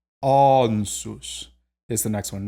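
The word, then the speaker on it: Ansuz: Ansus. Ansus is the next one. Not ansus, but rather ansus. It's that back A.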